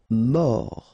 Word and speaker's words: mort: Mort. Final T not pronounced. O-R, or.